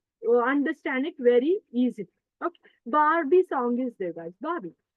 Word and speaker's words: Barbie: Oh, because in India we'll say it Barbie, Barbie. That is not Barbie, Barbie, Barbie. Okay, R is silent, Barbie.